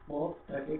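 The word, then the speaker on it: قاف: আমরা এখানে এই কফটাকে কি করবো? গলা থেকে মোটা ক উচ্চারণ করবো, গলা ভিতর থেকে কফ, কফ।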